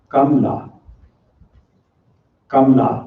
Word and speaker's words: Kamala: correctly at least as far as i can pronounce it it is kamla kamla repeat after me all right thank you thank